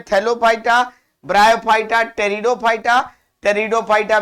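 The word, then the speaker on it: Pteridophyta: टेरिडोफाइटा में P silent है, और थैलोफाइटा को अलगी और फंगी में बांट देते हैं।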